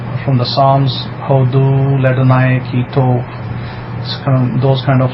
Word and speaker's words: Hodu: I can spell it out, I can write it. So it'll be H-O-D-U, Hodu.